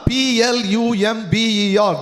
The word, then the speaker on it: plumber: Plumber. Ba is silent, right?